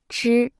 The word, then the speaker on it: 吃: 吃、吃、吃、吃、吃、吃、吃。 Se pronuncia con el primer tono.